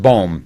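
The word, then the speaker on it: Bohm: your last name boom it's that just bham okay like ohm right with a bow with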